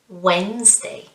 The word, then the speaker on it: Wednesday: syllable again isn't it remember we don't say wednesday no no no we say wednesday wednesday good what about